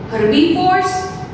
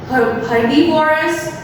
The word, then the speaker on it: herbivores: Herbivores, carnivores and omnivores. It is not like that herbivorous, carnivorous, omnivores. No, this is a wrong pronunciation, right? So we need to speak herbivores, carnivores and omnivores.